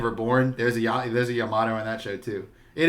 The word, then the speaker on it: Yamato: so you've got yamato here but no it's yamato have you ever um it's not it's yamato